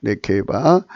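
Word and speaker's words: נקבה: 그 음력이 네케바하고요. 발음은 네케바입니다. 네케바가 발음인데요.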